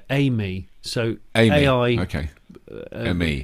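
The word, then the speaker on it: AI:ME: They pronounce it Amy.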